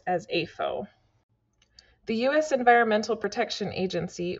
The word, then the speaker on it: AFO: an animal feeding operation, abbreviated as AFO and pronounced as AFO.